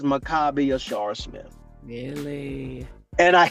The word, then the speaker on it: Makabi: And Makabi is actually, we really pronounce it's not really. It's really Makabi. When you look at the Paleo-Hebrew pronunciation of words and stuff like in letters, Okay. the R sound. So it's Makabi.